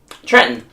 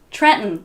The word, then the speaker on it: Trenton: We drop T's and D's in the middle of words all the time. Like this one. Trenton. Trenton.